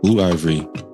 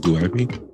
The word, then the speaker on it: Blue Ivy: the internet did to another person's child okay blue ivory finished that did you say Ivory you say Ivory is it Blue Ivy iy there for again please